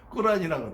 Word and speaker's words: 꾸란: 어떤 분들은 또 발음을 멋지게 하기 위해서 꾸란이라고 돼요. 근데 꾸란이 더 정확한 발음이긴 해요. 어쨌든 그러지만 우리는 통상적으로 코란 그러잖아요.